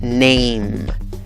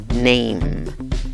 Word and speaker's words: name: arriba se pronuncia el como pronuncia esta palabra name name no te comas la inicial la palabra número se